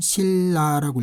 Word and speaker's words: 신라: 그럴 때는 신라라고 읽습니다.